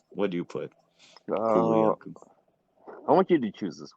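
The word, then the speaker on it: Kulu-Ya-Ku: Next, the Kulu Yaku. Am I right? Am I getting it right? The syllables are right? Kulu Yaku.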